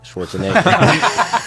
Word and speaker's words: Schwarzenegger: like Arnold Schwarzenegger and yes that is how you say it Schwarzenegger that's how I've been saying the whole time CU he has an accent yes but guys like